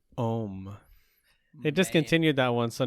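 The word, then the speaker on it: Homme: was the dior home how do you pronounce that h-o-m-m-e um like oh oh oh yeah it's pretty much ohm it discontinued that one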